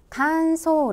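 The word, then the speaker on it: 乾燥: 이것 은 " 칸소 " 라고 읽습니다 .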